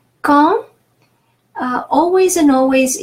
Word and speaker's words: quand: Quand, always and always, U after Q is silent. So we won't try to say quang or something like that, but it's quand, and AN is nasal A, quand.